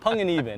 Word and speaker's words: Panganiban: It's Filipino, you know. It's Panganiban, actually. That's how you say it.